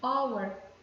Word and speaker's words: hour: E an hour, essa daqui, hour, é o H mudo, porque aqui, ó, escrito com H, só que a gente pronuncia como se fosse daqui para cá, né? Hour. Então, an hour, o Hzinho aqui é um H mudo, ele não tem esse som, né?